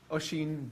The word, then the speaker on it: Oisin: That first name is really weird and not easy to pronounce from the spelling. The easiest way I have thought of to describe to people how to say it is to think of the actor Martin Sheen, say Sheen, and just stick an O in front, Oisin.